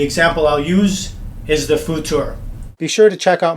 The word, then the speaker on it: Futur: It's spelled F-U-T-U-R, but I believe it's pronounced, my good friends in German would pronounce it Futur.